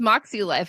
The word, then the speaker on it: Moxie Life: that makes sea life which is a brand I just pronounce Moxie life because it's supposed to be like a phonetic spelling of moxie yeah which for some